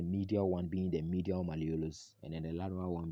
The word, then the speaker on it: malleolus: now the next word to look at is malleolus okay malleolus malolus is spelled as m-a-l-l-e-o-l-u-s malleolus so malleolus basically is